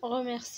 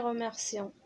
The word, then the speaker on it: remercient: كيف قلت لكم remercie هنا كتنطق remercie ماشي remercions. remercions كتكون ب ENT à la fin يعني التلاميذ كيشكروا الأستاذ ديالهم.